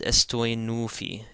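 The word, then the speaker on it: ⲥⲑⲟⲓⲛⲟⲩϥⲓ: And again, the theta is going to be pronounced like a T as opposed to a TH because it comes after a sema. So this is estoi nufi, estoi nufi.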